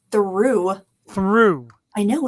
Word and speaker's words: Theroux: Jewel came out with Justin Theroux. Is that right now? Theroux? Well, now it's Theroux.